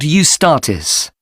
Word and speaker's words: Eustatis: The next day, the 18th, there's a performance by a ballet company called Eustatis. Sorry? The name is spelled E-U-S-T-A-T-I-S.